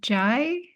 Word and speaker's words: Jai: Oh, okay, Jai, would you? Yeah, I prefer it pronounced J if you don't mind. Oh, Jay.